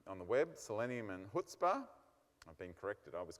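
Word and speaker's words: Chutzpah: I was calling it chutzpa but it's actually hootspa okay I don't know why the C is not they should have just deleted the C and then we'd all pronounce it right okay anyway selenium and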